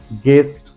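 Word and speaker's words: guest: वोल आ रहा है इसलिए वहां पर यू साइलेंट है guard second word is गेस्ट third one इज गेस guitar and गाइड okay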